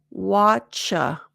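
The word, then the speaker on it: whatcha: Watcha. The T is silent. It's just a ch.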